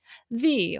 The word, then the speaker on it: Ye: It sounds charmingly old-fashioned to say it that way, but it's also wrong, because Y represents an Old English alphabet letter that was pronounced with a TH sound. The Old Curiosity Shop.